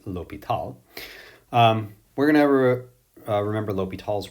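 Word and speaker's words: L'Hôpital: favorite mathematical theorem that looks like hospital but is actually pronounced l'hopital we're gonna ever remember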